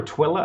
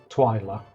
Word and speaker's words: Twyla: Is it Twyla or Twilla? I don't know how you pronounce her name. Is it like a play on twilight and like nighttime? Yeah, it's like Twilight. Yeah. Twyla.